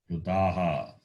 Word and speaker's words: Pluta: Those are called pluta. So we know short, we know long. So elongated or protracted sound is called plutaha.